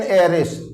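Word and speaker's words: heiress: एन एयरिस, H silent है। तो जब एच साइलेंट हो जाएगा, एयरिस पढ़ेंगे इसको, तो क्या करेंगे आप,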